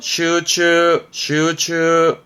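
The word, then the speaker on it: 集中: 발음은 슈가이. 그렇죠. 집중이죠. 슈츠.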